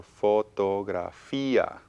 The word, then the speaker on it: fotografía: So fotografía. Bueno, it's a long word. It has Sounds like a 5 diphthong again, syllables.